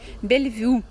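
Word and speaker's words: Bellevue: такой себе hotel am конечно бельвью по-французски так читается наталья спасибо вам большое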